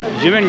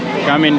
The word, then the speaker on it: Ximen: जिमिन district है, कामिन district आप इसको कह सकते हैं, जिमिन भी कह सकते हैं अपनी ज़बान के अंदर, और जिस तरीके से मर्ज़ी आप इसको प्रोनाउंस करें, बट इसकी स्पेलिंग XIMEN है।